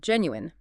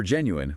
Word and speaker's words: genuine: For genuine, we break it down into three syllables and the stress falls firmly on the first syllable.